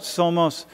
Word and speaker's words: somos: class is it's you you pronounce that somos and it's it's portuguese for we are humanity and i'll